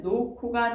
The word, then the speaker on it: 놓고: 가방을 놓고 할 때 놓고에서도 여러분 히읗하고 기역이 만나서 키읔으로 바뀌는 거기 때문에 최종적인 발음은 놓고가 되는 거죠.